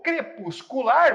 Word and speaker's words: crepuscular: Já o crepuscular, você conta até o final, porque a sílaba forte é exatamente a última.